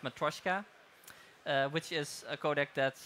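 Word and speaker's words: Matroska: a subset of MKV actually it's called it's pronounced matroyshka which is a codec that enthusiasts of things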